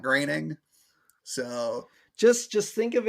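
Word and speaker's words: Groening: saying that matt greening's name is pronounced graining and not groaning i don't know which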